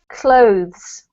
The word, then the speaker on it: clothes: though though that's better this one is one syllable and I know it's quite hard to fit in all the sounds but it should be clothes cloth much better well